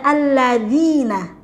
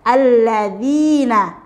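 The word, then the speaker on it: الذين: huruf shod ya Nah di sini ada alladzina huruf Za mirip dengan huruf Za pengucapannya tapi dia berbeda hurufnya jadi perlu diperhatikan pengucapannya sudah tepat atau belum ya alladzina alladzina kemudian di AN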